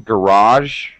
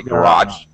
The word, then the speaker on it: garage: small things uh pronunciation garage well you can say garage or garage both pronunciations are the same i mean are equally accepted so you